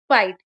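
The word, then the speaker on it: fight: For example L आई जी एच टी यहां पे word में जी एच आया है इसलिए इसका उच्चारण लाइट होगा। एफ आई जी एच टी फाइट एच ई आई जी एच टी हाइट।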